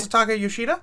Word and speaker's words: Masataka Yoshida: Masataka Yoshida?